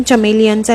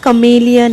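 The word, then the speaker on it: chameleon: एक lesson कमेलियन म्हणून आणि कमेलियन स्पेलिंग येत सी एच तर मी त्याला म्हटले चल आपण चमेलियनचा लेसन करूया तर तो इतका जोरजोरात हसायला लागला मम्मा चमेलियन नाही कमेलियन आहे त्याला असं वाटलं की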